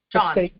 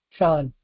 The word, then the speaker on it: Sean: Is that how you pronounce that? S H A W N. Sean. Sean.